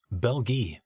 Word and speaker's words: Belgae: The Belgae, pronounced Belgi by some and Belgae by others, were a conglomerate of tribes.